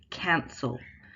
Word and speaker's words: cancel: Cancel. In cancel, there's a bigger movement, cancel. If you watch my face, cancel. The second syllable is much smaller.